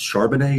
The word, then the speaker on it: Charbonnet: I think it's Charbonnet is how you say it.